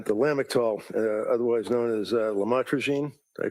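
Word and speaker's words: lamotrigine: about the u the lam otherwise known as lamatroine. Did I pronounce that right? Lamotrogene.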